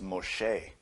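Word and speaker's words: משה: a full human being his name properly is ma che which is spelled mim shin-hey and those letters encode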